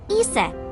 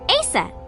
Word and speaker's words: Isis: Horus's mom is named Isis, but in ancient Egyptian, it's pronounced closer to Iset or Aset.